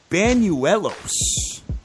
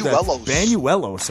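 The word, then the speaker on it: Bañuelos: Atlanta has Manny benu Banuelos I believe Banuelos I believe that's how you pronounce his name uh Washington minus 210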